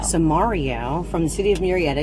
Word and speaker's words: Samario: sitting here with how do you say your last name samaria so mario from the city of